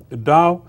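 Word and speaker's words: Tao: davism so let's see what is this da da spelled with t you know and now more people write it spell it with d so T is also pronounced as d so da uh that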